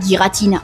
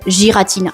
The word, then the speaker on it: Giratina: y a aussi Giratina car il y a des gens qui l'appellent Giratina mais on ne peut pas leur jeter la pierre vu que son nom commence par un G et un I qui se prononce J en français.